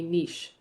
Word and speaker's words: niche: ecological role a a niche you can pronounce this different ways I've heard I've heard Niche I've heard Niche both of them are considered correct um but this is essentially